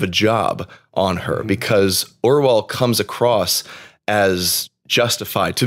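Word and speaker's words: Orual: Just like the Screwtape Letters, we're not supposed to believe Orwell or Ewell, or however you say her name. They say it Orwell in the audiobook.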